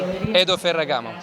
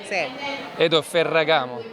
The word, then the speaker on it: Edo Ferragamo: how do you say your name for everybody Hado Ferragamo the way he says it it makes me like it just puts me to shame Hado Ferragamo Paragon you might be from Italy yes I